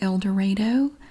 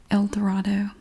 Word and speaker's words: El Dorado: I know that a lot of people pronounce it El Dorado, but if you go there and you pronounce